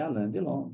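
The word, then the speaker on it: Alain Delon: nome do alandelon alandelon por que alandelon porque a pronúncia em francês é é alandelon correto Mas se você pedir um arg para falar Alon ele vai falar Alon Tá certo tudo bem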